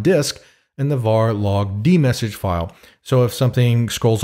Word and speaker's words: dmesg: first way is to use the D message command which dumps the contents of the kernel ring buffer to the screen by the way that command is spelled DM ESG now since the messages